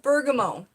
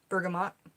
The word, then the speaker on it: bergamot: Next we have bergamot. You can pronounce it with the T if you like. Bergamot. Bergamot is how a lot of people pronounce it.